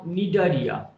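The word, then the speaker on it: Cnidaria: তাহলে হাইড্রা দেখতে পেলাম, এই দলটার নাম নিডারিয়া, দলের নাম নিডারিয়া, সি দিয়ে ইংরেজিতে শুরু, যেখানে সিটা উচ্চারণ হয় না।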